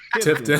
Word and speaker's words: Tifton: Tifton. That Tifton. Trifton, Georgia. Oh, It's Tifton. Oh yeah, yeah, man. Is it I was Tifton or born down Trifton? there. Tifton, sir.